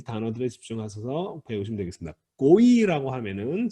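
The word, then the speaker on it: גוי: 발음은요, 물론 이제 우리말, 영어도 마찬가지인데 발음을 고이처럼 발음을 할 수밖에 없지만 사실은 이건 이름절이에요. 이거 우리 한국 사람들은 발음하기가 좀 어렵기는 한데 고이라고 하는 두음절은 아니에요. 고이예요. 고이. 그러니까 이름절로 발음하셔야 됩니다.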